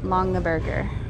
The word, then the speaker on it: Longaberger: Longaberger. Oh, it's literally how it looks.